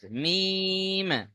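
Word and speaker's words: ميم: আজকের দেখেন মিমের মাখরাজ মিম দুই ঠোটের শুকন অংশ থেকে উচ্চারণ হয়। শুকন অংশ কোনটা? দুই ঠোটের শুকন অংশ অর্থাৎ বাইরের অংশ। এইযে বাইরের অংশ যেটা আছে না? এটা শুকন না? ঠোটের এই দুটো শুকন অংশ থেকে মিলিয়ে উচ্চারণ হবে মিম। মিম বলেন প্রত্যেকে বলেন মিম কোত থেকে উচ্চারণ হয় ঠোটের দুই ঠোটের শুকন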